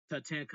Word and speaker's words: Tatanka: So if I said it right, Tatanka Tatanta Tatanka.